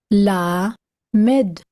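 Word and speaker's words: למד: La, Med, Lamed, L, as in gel.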